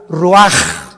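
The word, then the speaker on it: רוח: Y exhaló Isaac el roach, así como suena. Se pronuncia la ch en hebreo como J. Roaj, se le salló y se traduce espíritu.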